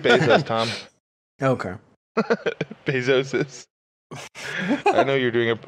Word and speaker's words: Bezos: that dave weissman's company it's just pronounced basis tom okay pesosis i